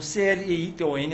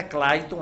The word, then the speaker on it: Cleiton: Entra no Google e escreve Cleiton, com C-L-E-I-T-O-N, não é Clayton, é Cleiton mesmo, do jeito que se fala, se escreve Cleiton com H.